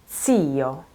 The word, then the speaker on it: zio: So the first one is lo zio, okay? That is unvoiced, no vibration here.